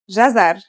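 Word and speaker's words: جزر: It's pronounced jazar and means carrot.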